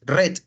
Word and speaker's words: read: Ahí lo único que el verbo read cambia su pronunciación. En presente se dice read, pero ya para hablar pasado y pasado participio, a pesar de que se escribe lo mismo, su pronunciación es red, como el color.